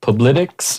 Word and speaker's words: Publitics: And how do you pronounce? Is it Publitics?